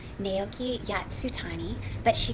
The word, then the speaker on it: Nao: character is called Naoki Yasutani, but she goes by NAO, which is actually pronounced now.